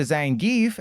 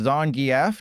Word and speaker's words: Zangief: Silver Surfer and learning his name's actually pronounced Zangief, not Zangief.